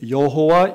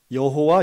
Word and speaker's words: 여호와: 여호와입니다 우리가 발음하는이 야외 여호와라고 하는 이름은 사실은 구약성경 히브리어로는 자음 받기는 없습니다 여기에 우리가 사람들이 일반적으로 이야기한 여호와의 이름을 아도나이라고 히브리어로 표시하는데요이 아도나이의 모험을 붙여서 여호와라고 우리가 해석한 것입니다 실제로는이 구약의 사람들은 하나님의